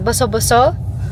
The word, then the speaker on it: Boso-Boso: Ano bang tamang pronunciation? Boso Boso.